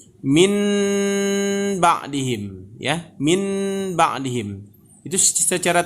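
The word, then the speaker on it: من بعدهم: kalau secara tulisan bacanya min ba'dihim ya, min ba'dihim. Itu secara tulisan. Tapi kalau membacanya nanti seperti ini Bapak dan Ibu. Min ba'dihim ya. Seakan-akan yang n tadi bertukar menjadi m ya.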